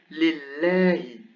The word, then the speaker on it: لله: So here we have Allahu, Allahu, emphatic Allahu. But here, because there is a kasra before, it goes lillahi, lillahi.